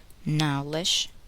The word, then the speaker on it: knowledge: The letter k is not pronounced in the following words. Listen and repeat each word after the speaker. Know, knew, knowledge, knee, knife, blackguard.